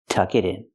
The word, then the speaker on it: tuck it in: middle tuck it in pronunciation tuck it in the T and it changes to a fast e tuck it in so it's correct to